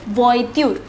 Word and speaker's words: voiture: See the pronunciation, it is voiture.